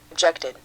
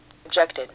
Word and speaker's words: objected: bothered, bothered, 드음으로 끝나면 이드로 발음한다. 첫 번째 단어를 들어볼까? objected, objected, 자, 그래서 지금 보면 여기는 트 발음이 나고 여기는 드 발음, 여기는 이드 발음이 난다는 걸 알 수 있어.